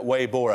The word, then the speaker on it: Weibo: Weibo, I think is how you pronounce it.